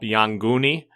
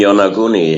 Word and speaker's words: Yonaguni: contact with brought up Yanguni off of Okinawa? The Yanguni, the underwater pyramids, etc.? You mean Yonaguni? Yeah, I pronounce it different, yeah.